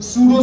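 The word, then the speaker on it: pseudo: अब यहाँ पर एक वर्ड, एक टर्म आती है हमारे पास, that was द सूडो solid. ये साइलेंट होता है, फेक सॉलिड, फॉल्स सॉलिड, ठीक है, वो टर्म आते हैं हमारे पास, याद है, सूडो सॉलिड।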